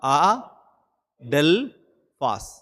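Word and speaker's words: ἀδελφός: Greek பா்கறீங்க சைடுல தெரியுதா அடல்பாஸ் brother அது எப்படி உச்சரிக்கணும் போட்டுருக்காங்க பாருங்க ஆ அது ஒரு சிலபல் டெல் அது ஒரு சிலபல் பாஸ் அடல் பாஸ் அது எப்படி உச்சரிக்கணும்ன்றத டிக்ஷனரில சொல்லிருக்காங்க பாருங்க இத எப்படி வாசிக்கணும் ஆடல் பாஸ் இதான் பிரதர் அன்னைக்கு ராபர்ட்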